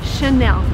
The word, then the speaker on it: Chanel: And the right way to pronounce it is again in French because it's from France. So the correct way to say this word is Chanel.